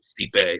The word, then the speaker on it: Stipe: Yeah, I love Stipe. So I'm pretty excited. How you pronounce it?